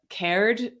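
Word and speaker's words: Cairde: you say it right but check out uh cared c-a-i-r-d-e is a an irish uh dancing group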